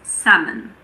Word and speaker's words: salmon: It's also silent in the words could, should, and would. Another one is salmon. Salmon.